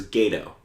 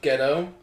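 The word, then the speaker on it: Gedo: So next up, we have Chris Jericho versus Gato. Or Ghetto, sorry. It's pronounced Ghetto. Yeah. It's spelled differently.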